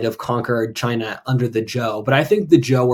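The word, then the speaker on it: Zhou: Z hou but uh it's pronounced Joe like Joseph um which is one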